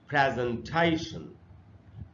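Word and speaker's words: presentation: तो इसको ऐसे पढ़ेंगे प्रेजेंटेशन, प्रेजेंटेशन। ये इसका बिल्कुल सही उच्चारण है। हम लोग इसको पढ़ लेते हैं प्रेजेंटेशन, वो इसका सही उच्चारण नहीं।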